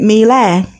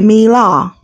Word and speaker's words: Miele: I used to pronounce it Miele, but it's actually Miele.